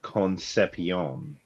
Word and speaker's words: Concepcion: I believe his last name is pronounced Concepcion. Sion. Yeah, but that's Concepcion. that's not as fun. Concepcion.